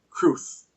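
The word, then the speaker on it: crwth: divided on its pronunciation some pronounce it as a rhyme for broth While others rhyme it for truth as I do cruth but regardless of which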